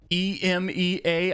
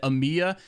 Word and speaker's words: EMEA: the comments because of the way that I pronounced e-m-e-a I know that everybody pronounces it Amia but it just doesn't make any sense it's literally an acronym so it should be said e-m-e-a you don't pronounce acronyms I mean some some